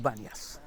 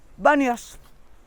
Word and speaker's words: Banyas: don't have the letter P in their alphabet P is B third a name with Banyas you know an Arab is telling you Bombay you better asking in Italy or India Pompeii and Bombay pronounced the same no letter P yeah so they call it Banyas okay the first one